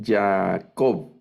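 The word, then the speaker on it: יעקב: la última es bueno esta segunda palabra es yacob no Leo ya o vamos a ver si la hacen todos Ya penal ya Jacob o ya acco no es Yaco o Jacob sino ya al final el acento ya Y ese es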